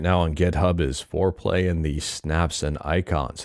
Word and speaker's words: Foreplay: So they say here, Foreplay, pronounced Foreplay, is a desktop keyboard-oriented GUI front end for MAME designed for high-end Windows 11 systems.